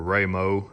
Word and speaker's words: Raymond: Any of y'all that watch Mr. Raymond, or Ramo as he says his name is supposed to be pronounced, I can sympathize with